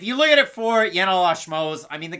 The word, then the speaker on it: Yanal: first name what it rhymes with flannel it's Seattle but if you look at it for yanel ash Moe's I mean